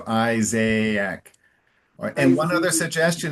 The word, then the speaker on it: Isaac: And it's this is like the only word in English where there's two A's. And and and we actually pronounce them separately. So Isaiaak.